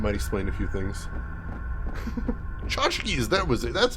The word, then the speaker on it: tchotchkes: Tchotchkes, that was it. That's how you pronounce them. Tchotchkes.